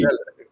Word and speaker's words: Chelle: yeah, the issue is this: Eric Sekuchile or Chelle or Shell. Charlie or Shell. Yeah, See, Shell.